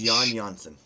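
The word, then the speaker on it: Jan Jansson: Jack list Jack yeah his name is Yan jansson you spell that y n y n son his he is Yan and his his father is Jan so he's yon jansson okay please um see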